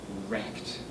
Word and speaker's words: RECD: I mean, this is what Noam Chomsky mockingly calls really existing capitalist democracy, acronymized, the acronym being RECD, pronounced as wrecked.